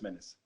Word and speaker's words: Minns: I know we talked about the promoter, our man Chris Minns, or you call him Minnes. I'm not even sure how you say his name. Minnes. Chris. Yeah, it's Chris Minnes.